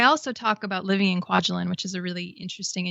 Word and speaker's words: Kwajalein: I also talk about living in Kwajalein, which is a really interesting and unique place, and just sort of my time as a civilian contractor on the island.